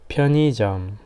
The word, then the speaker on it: 편의점: Actually, this is 의, but we say just 이. 편의점, something like that, right? Only pronunciation, okay?